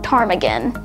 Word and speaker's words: ptarmigan: Next, Alaska's official state bird is the willow ptarmigan. Note the word ptarmigan with a P at the beginning, which is silent.